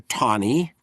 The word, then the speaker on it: Taney: Court and there the Chief Justice is Roger Tony. It's a peculiar pronunciation. It sounds like TA ne Teny, but it's pronounced Roger Tonyie.